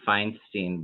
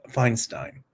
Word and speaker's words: Feinstein: and um uh and in German is pronounced uh Feinstein yeah I I agree